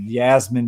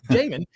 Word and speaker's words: Jamin: He said Yasmin, but on the freaking thing he's looking at, the colored thing on the fucking screen, his name is spelled Jasmine. Okay. It is. It's spelled Jasmine, and he tried to be smart about it. Well, it must be Yasmin. It can't be Jasmine. No, stupid. It's Jamin.